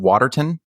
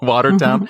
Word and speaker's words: Watertown: prejudiced place in America I believe I'm pronouncing this correctly Watertown New York or is it Waterton water got it Watertown Watertown I never know those